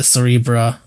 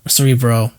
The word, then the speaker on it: Cerebro: the giant thing the cerebra cerebro cerebro not cerebra um I think there might have been a different machine anyway definitely was saying it wrong but cerebro on his head.